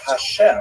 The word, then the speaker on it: Hashem: And the word Hashem, of course, is pronounced with the letter H.